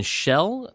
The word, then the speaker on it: Schell: First is Maximilian Schell, I believe is how you say his last name.